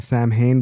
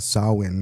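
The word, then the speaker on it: Samhain: uh festival of Sam, well, people call it Sam Hayne, but it's called Sawin is how you pronounce it.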